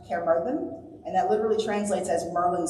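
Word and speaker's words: Caerfyrddin: is the English name in Welsh it's spelled k Muran which trans or pronounced K Mur and that literally translates as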